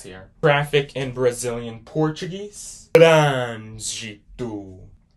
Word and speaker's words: Trânsito: So you're pronouncing it more like a closed vowel sound right there.